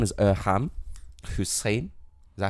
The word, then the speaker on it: Irham: I love he just went Irham and you went Irham. Now, to be fair, yeah, cool. like the I think the original pronunciation would be Irham.